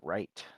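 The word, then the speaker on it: Wright: connection except these connectors w ow oh right not white yeah okay I heard I thought it was an ubu dialect so I just uh It's So Silent it's a silent w ow uh but ether I don't even know how to feel about that well it's w-r-i-g-h-t you don't say we're right right uh you know what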